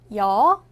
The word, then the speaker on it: 여: 여는 먼저 이를 소리 내다가 바로 이어서 어를 소리 내며 발음합니다. 이와 어를 순서대로 빠르게 말해요.